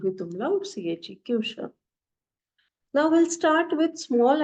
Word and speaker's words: Küche: Now for kitchen, there is a word called Küche. K-U, U with umlaut, C-H-E, Küche.